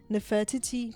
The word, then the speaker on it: Nefertiti: Anyways, um Posen tells Vogue that he envisioned something that felt almost like nefertity. How do you pronounce that word? Nefertiti.